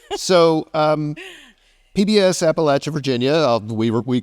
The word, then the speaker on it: Appalachia: know reporters in Appalachia who are pronouncing it Appalachia know that makes every time that happens uh anything that we put out if you get it wrong I'll throw an apple apple so um PBS Appalachia